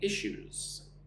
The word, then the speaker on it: issues: We're currently experiencing some supply chain issues. Look at the word issues. I shoes. Two syllables. The second syllable is just like shoes that you wear on your feet.